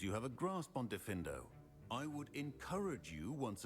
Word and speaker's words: Diffindo: Now, let's see how you fare with Diffindo. Oh, I did say it right. Diffindo.